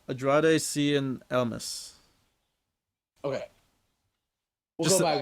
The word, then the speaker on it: Andrade Cien Almas: Andreas Cien Almas? No, Andrade Cien Almas.